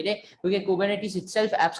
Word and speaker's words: Kubernetes: कुछ लोग इसको इस तरह से बोलते हैं कुबरनेटिस। अब वो ये मोस्टली एक ब्रिटिश या थोड़ा स्कैंडिनेवियन प्रोनाउंसिएशन है। और अगर अमेरिकन प्रोनाउंसिएशन की बात करो तो वो थोड़ा इस तरह का है, कुबरनेटिस।